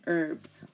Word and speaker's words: herb: students have asked me why are you saying herb well you know because in British they say